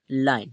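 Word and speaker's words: line: है ई ठीक है कहीं पर भी हमें लास्ट में ई लेटर जो दिखता है वो क्या रहता है हमारा साइलेंट रहता है इसका कोई उच्चारण नहीं करेंगे ठीक है तो इसे हम क्या पढ़ेंगे लाइन ठीक है इसका उच्चारण लाइन होगा तो लाइन का जो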